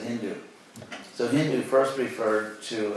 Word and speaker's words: Hindu: in ancient Persia, but they pronounced initial S as an H, so they said Hindu.